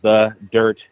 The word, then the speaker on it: Dyrt: y d yrt y so it's Gabby potito the dirt dyrt okay the dirt all right so this